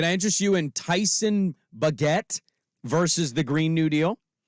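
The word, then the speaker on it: Bagent: There's no R. Then it's Bajent. No, it's not Bajent. Names can be pronounced weirdly no matter how they're spelled. I'm telling you, I just heard it. It's not Bajent. It's not Bajer.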